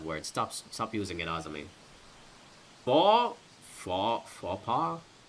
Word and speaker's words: faux pas: Faux pas? I don't think the X is pronounced.